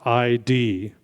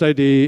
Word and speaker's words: id: look like it's pronounced ID. It's not pronounced ID, it's id.